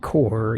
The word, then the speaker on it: Corps: And I'm pronouncing that core, even though it says corpse, but there's no silent E, so you don't pronounce the P because there's no silent E, as my English teacher used to say.